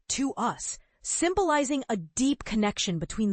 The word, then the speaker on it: TWS: But TWWS, with their clever name pronounced to us, symbolizing a deep connection between the members and fans, is carving out a distinct identity all their own.